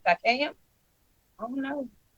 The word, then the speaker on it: Siakam: Takayam? I don't know. Siakam.